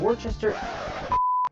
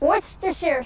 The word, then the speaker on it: Worcester: 1/4 teaspoon of worchester. Damn it. 1/4 teaspoon of wor 1/4 teaspoon of worchester. Can someone help me pronounce this? Worcester sauce. Worcester sauce.